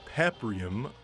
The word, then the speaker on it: Paprium: And yes, I know it's pronounced Paprium, like pap smear, but this game sells for $130, which is a premium price.